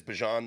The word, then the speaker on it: Bijan: made it known that he's going back to Bijan. Okay, so my correct pronunciation is Bijan. That's over with now. We can call him Bijan.